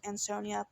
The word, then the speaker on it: Ansonia: And when police, the Ansonia, I believe it's pronounced Ansonia police officers, they were conducting a welfare check at Christine Holloway's Myrtle Avenue home.